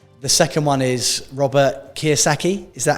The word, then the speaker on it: Kiyosaki: The second one is Robert Kiyosaki. Is that how you say his name? Yeah, Robert Kiyosaki.